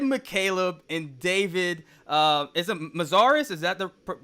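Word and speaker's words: Mazières: you had Jed McCaleb and David, is it Mazaris? Is that the Mazaris, proper pronunciation? Yeah. Mazaris on the live with everybody.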